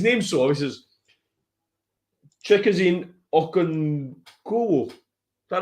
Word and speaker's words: Okonkwo: And I think Okonkwo, that's how you say it, I remember there, Okonkwo,